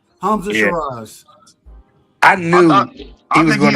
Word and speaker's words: Hamza: Hamza.